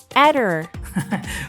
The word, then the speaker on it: Aedir: Pain, ¿cómo se pronuncia? Aedir.